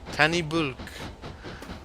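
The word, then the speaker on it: Tan-y-Bwlch: always get water there I pronounce the CH wrong will you give points for effort boo Luke Luke tani bulk and of course you gotta say it with that lovely Welsh accent as well the doors don't want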